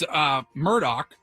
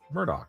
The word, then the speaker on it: Murdaugh: I That seemed if it's mispronounced, I'm going to go with Alex Murdaugh. Close. Murdaugh? Mur Mur It's Murdaugh. That's what I said. Murdaugh.